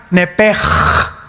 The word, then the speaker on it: nepesh: Esa palabra alma es la palabra hebrea Nepesh, así como suena, N-E-P-E-S-H, Nepesh. La palabra, la letra o las letras SH en el hebreo se pronuncian en hebreo como J. Entonces se pronuncia Nepej.